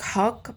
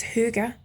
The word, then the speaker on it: hygge: it's the hy gge some people think it sounds like hug but from what I gather it's huger so hook up you're